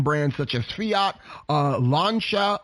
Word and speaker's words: Lancia: such as fiat uh lancia or as i like to say lancia but i know that's not how it's pronounced um alfa romeo and